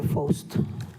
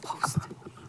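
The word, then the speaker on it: Pfost: Is it Post or Fost? Post. It's Post. post. The F is silent in my name, so it's Okay.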